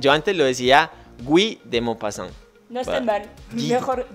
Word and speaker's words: Guy de Maupassant: Guy de Maupassant. Guy de Maupassant. Yo antes lo decía Guy de Maupassant.